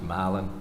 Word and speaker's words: Milan: is pronounced Halston Miland is brother Milan is pronounced malan and only in the state of Georgia could